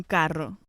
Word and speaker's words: carro: In Latin American countries, the word for car is generally un carro. Un carro. Whenever we have a double R in Spanish, it's rolled or trilled. Carro.